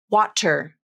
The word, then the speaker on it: water: with the T sound waterer that's not very natural the most natural pronunciation uses the flap which is like a quick D sound water to make the